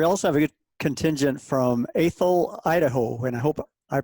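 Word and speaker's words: Athol: show and we also have a contingent from a thil Idaho and I hope I pronounced that name right yes sound good oh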